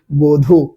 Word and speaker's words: বধূ: তো দেখেন এই বধূ শব্দের ক্ষেত্রে দেখেন এখানে ধয়ে দীর্ঘকার রয়েছে না, ধয়ে দীর্ঘকার, তো এই দীর্ঘকার উচ্চারণে পরিবর্তন হয়ে যায় হয়েছে কি রস্যকার। আর এখানে বয়ের সাথে কোনো কার নাই, তার কারণে এখানে অ আছে, আর আদ্য অয়ের পরে দীর্ঘ থাকলে সেই দীর্ঘর উচ্চারণ কি হয়ে যায়, অয়ের উচ্চারণ ও এর মতো হয়ে যায়, তাই বয়উকার ধয়ে রস্যু সমান কি বধূ।